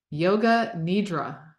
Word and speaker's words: Yoga Nidra: that I love that Yoga Nidra what in the world is that did I even say it right you did yeah that's close enough that's how I say it it's um it is